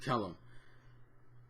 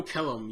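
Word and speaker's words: Kellam: ke I think it's I've heard name pronounced Kellum and kelum but I'm calling them Kellum I love Kellum Kellum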